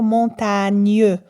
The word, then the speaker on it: montagne: pas lire ce mot montagne on va dire montagne donc on entend le son mieux lorsque le